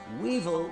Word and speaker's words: weevil: Weevil rhymes with evil, and that's what many people think it is.